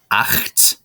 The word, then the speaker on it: acht: Then comes acht. The CH sound in acht is that angry badger noise, the sh that you've heard before. Sh. So it's acht.